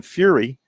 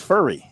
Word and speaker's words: Furry: We've been calling him Fury since he got here. Now it's pronounced Furry.